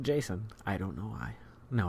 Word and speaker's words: Geycen: GEYCEN. That's GEYCEN. And I pronounce it Jason.